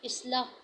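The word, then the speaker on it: إصلاح: अलिफ ज़ेर स्वाद, इस लाम ज़बर केला, इस्लाह।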